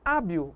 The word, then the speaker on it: hábil: Na palavra hábil, o H não é pronunciado, o som apenas do A.